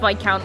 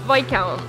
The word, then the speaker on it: Viscount: no oh chili flavor it's spelled Viscount but it's pronounced V count never mind you trying